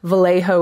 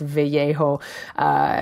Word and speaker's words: Vallejo: Vallejo is another town, which, of course, technically should be pronounced Vallejo.